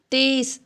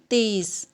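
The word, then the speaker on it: तेज़: ஹிந்தியில் தேஸ். தேஸ் அப்படின்னு சொல்லுவோம். ஜ கிடையாது, இசட்டில் ப்ரொனவுன்ஸ் பண்ணுவோம். தேஸ்.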